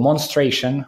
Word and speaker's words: Monstration: of Novosibirsk it's called Mon stration like demonstration but without the first syllable and it looks like